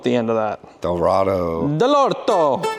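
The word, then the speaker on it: Dell'Orto: l o r t delort no it's it's Italian it's Italian like doesn't know with the end of that Dorado delorto it's a delorto hey so running plli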